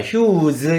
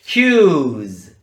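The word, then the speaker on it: huge: 발음과는 좀 거리가 멀어집니다 받침으로 놓지 마시고요 옆으로 살짝 떼서지 발음을 약간 넣어 주면 됩니다 어떻게 하냐면 휴 휴 그렇다고 여기 으라고 하는 발음을 일부러 넣으면니다 휴즈 이렇게 하면 안 되고 휴즈 휴즈 아주 자연스럽게 우리나라 말의 짓 발음과 비슷한 발음을 살짝 맨끝에 붙여 주시면 완벽한 발음이 되겠습니다 영어로 h 휴즈는 물리적으로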